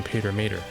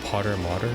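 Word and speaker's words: Pater-Mater: Oh, I can summon Pater Mater. Wait, they call it Potter Mater? Okay, whoops, I've been saying it wrong this entire time.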